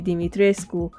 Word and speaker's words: Dimitrescu: model for creating the creepy castle of Lady Dimitrescu. Yes, that's how you're supposed to pronounce her name.